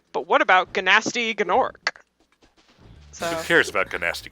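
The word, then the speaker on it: Gnasty Gnorc: I love how everybody just calls him Gnasty Gnork. Like, that's actually supposed to be how you pronounce his name. That's how some of the characters say it in the dialogue.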